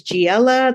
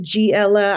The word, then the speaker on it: Geexella: So my name is Geexella. That is how you pronounce it, Geexella. I know there's an X in there.